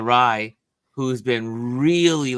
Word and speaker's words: Rye: Yes, they've been, and shout out to Native Land podcast, because it is Angela Reyes. I hope I say her name right. Rye, sorry, Rye. Angela Rye, who's been really like one of the pushers to get this pardon done.